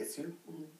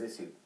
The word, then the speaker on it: issue: Well, you know, if you went back maybe 30, 40 years, um, it would be issue. I mean, you know, it's a the standard English pronunciation is isue.